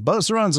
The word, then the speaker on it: Beauceron: these dogs, at least you’ll know how to pronounce its name Beauceron (BO-se-ron) • Used to protect and drive the